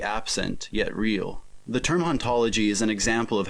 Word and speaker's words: hauntology: In the original French, the age in haunt is silent, and therefore both hauntology and ontology are in fact pronounced the same.